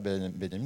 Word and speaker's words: Benjamin: C'est Walter Benjamin, ça s'écrit Benjamin, ça se prononce Benjamin, c'est un allemand qui a écrit un un petit livre que j'adore, que je cite chaque année.